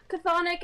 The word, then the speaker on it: Chthonic: Chthonic and Orenic. I don't know if that's how you pronounce it.